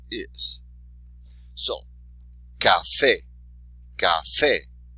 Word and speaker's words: café: So even though it ends in a vowel, we're not going to say the second to last syllable. We're going to do it where the exception to the rule is.